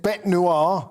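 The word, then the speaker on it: bête noire: he was cast by macron as his nationalist bet noir and uh did i pronounce that correctly perfect perfect thank you very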